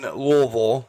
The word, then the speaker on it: Louisville: with you being in Louisville, I'll say it correctly now that I've been there.